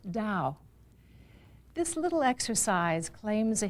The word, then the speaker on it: Tao: is essentially Chinese and it's spelt T a o and pronounced Dao this little exercise claims